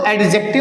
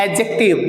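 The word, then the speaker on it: adjective: है, और ध्यान रखिएगा इसको एडजेक्टिव नहीं बोला जाता, इट is pronounced एडजेक्टिव, डी is silent here, alright.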